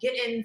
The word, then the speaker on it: Giddens: my name is giddens it's like kittens or with the g right because everybody how